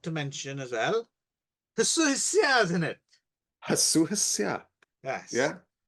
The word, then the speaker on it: YCHYFUS: YCHYFUS.